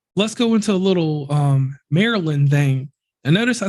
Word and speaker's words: Maryland: I've been pronouncing it Maryland all these years, so people call it Merlin. Yeah, you just heard me say it. Y'all say Merlin, and when I'm up